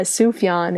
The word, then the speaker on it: Sufjan: you pronounce it yeah Sufjan it's like soup and then yon no never no Sookie